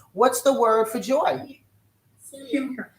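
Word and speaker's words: שמחה: Simcha. Simcha.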